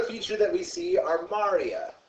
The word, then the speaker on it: maria: Another feature that we see are Maria. Not Maria, Maria. I call it Sounds like Mario.